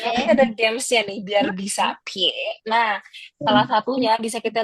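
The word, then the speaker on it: 撇: Next di sini garis miring ke kiri kita bisa baca pie. Yes, jadi garis miring ke kiri itu pie. Dan ingat-ingat ya, nanti ada gamesnya nih biar bisa pie.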